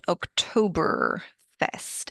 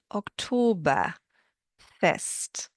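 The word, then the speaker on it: Oktoberfest: I hope you noticed that German does not have an R sound like American English does. So it's not October Fest. It is October Fest and the word that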